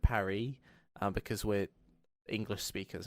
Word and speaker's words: Paris: the same way like we say Paris instead of Parry um because we're English